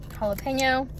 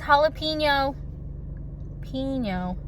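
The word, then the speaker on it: jalapeño: to have a Chomps jalapeno I have a I was watching people talk about these my whole life I've said jalapeno because in Spanish it's jalapeno why do people I'm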